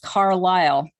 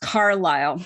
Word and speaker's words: Carlisle: My name is pronounced Carlisle, not what you were saying.